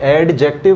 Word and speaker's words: adjective: ठीक है, एडजेक्टिव नहीं, हम गलती करते हैं इसे एडजेक्टिव कहने का। ये जो डी है इसे हमें प्रोनाउंस नहीं करना है, इसे एडजेक्टिव ना कहकर दोस्तों एडजेक्टिव कहा जाए।